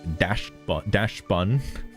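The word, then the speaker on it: Dachsbun: I haven't got Dash Bun.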